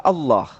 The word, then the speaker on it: Allah: Huruf A tambah L tambah L tambah L tambah A tambah H dibaca Allah.